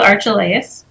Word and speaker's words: Archelaus: I just remind people it rhymes with Amadeus.